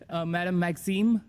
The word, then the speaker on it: Madame Maxime: pronouncing that well. It's my Cajun roots. Madame Maxime.